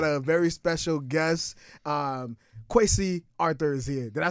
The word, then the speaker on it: Kwesi Arthur: Um, Quy Arthur is here.